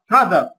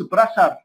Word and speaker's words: brother: ف طيب الكلمات اللي هي تنطق كانت مثل الدال، ذا، نورثرن، نورثرن، براذر، براذر، ما قلتش براشر، لا، براذر، فاذر.